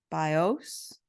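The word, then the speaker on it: βίος: accent on the vowels so it's BIOS with the accent on the o and bios Accent on the eye and said the bow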